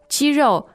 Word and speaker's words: 肌肉: First and fourth tone. So you're talking chicken here? No. We're not talking chicken. Exactly the same pronunciation but different character. And here, 肌肉 is muscle.